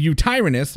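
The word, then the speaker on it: Yutyrannus: released in the patch we've already tamed the U tyranus as everyone has told me should be the correct pronunciation and the megatherium as you can see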